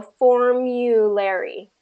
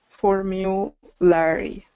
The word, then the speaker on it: formulary: So formulary. Formulary. Formulary. Formulary. Good. So it's the first syllable stress there.